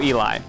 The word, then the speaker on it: Eli: been saying it wrong uh like Elijah okay so Eli got it Eli Jie that makes sense thank you for clarifying that I don't know why I thought it was Elliott first Eli so alright